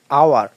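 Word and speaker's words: hour: এরপর এন আওয়ার এটাও এইচ উচ্চারিত হচ্ছে না।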